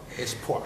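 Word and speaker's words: Espoir: It's poor. Oh, wow. Yeah. It's poor. It's a French word. French word for hope.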